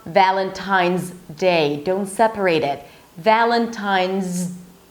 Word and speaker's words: Valentine's Day: So it's not Valentine's Day. Don't separate it. Valentine's, right? So you're actually pronouncing the Z and then you're blocking it with the D. Z day. Happy Valentine's Day.